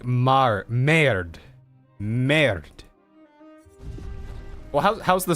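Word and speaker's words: bánh mì: have got like a bonme or some kind of I got a burrito today instead. So no, no, no. Bon me. It's pronounced more like mar me.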